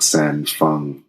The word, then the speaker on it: San Feng: comes to my mind would likely be Zhang San Feng, which is my great-great-great-great-great-great-great-great-grandpa. Oh. This martial lineage. Okay. You did really good pronouncing the name earlier, San Feng.